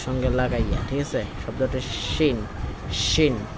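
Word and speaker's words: ش: তারপর হলো শিন, জিহ্বার মধ্যখান তারপর অপর উপরে তার সঙ্গে লাগাইয়া, ঠিক আছে, শব্দটা শিন শিন।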